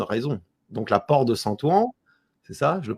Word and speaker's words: Saint-Ouen: Donc la porte de Saint-Ouen, c'est ça, je le prononce bien? Ouais, c'est ça, la porte du Saint-Ouen.